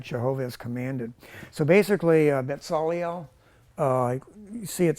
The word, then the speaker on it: Bezalel: In Hebrew, it's like it's not a Z. It's a sadeh. You pronounce it like this. Like this right here is really this. So it's like Bezalel, okay? So it's like bar mitzvah, that's that same letter there.